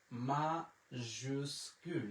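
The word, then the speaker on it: majuscule: মাজুস্কুল, আমার সাথে উচ্চারণ করতে পারেন, মাজুস্কুল, মাজুস্কুল।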